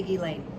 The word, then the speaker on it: Ghislaine: Now, something interesting about, I think a lot of people don't know how to say her name, Ghislaine Maxwell. I'm just going to say Ghislaine.